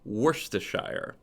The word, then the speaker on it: Worcestershire: Yep, and remember, it's pronounced Worcestershire.